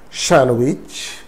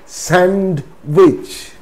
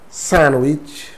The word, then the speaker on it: sandwich: it's not handsome handsome shanwich sandwich it's not sand witch sandwich wednesday it's not wednesday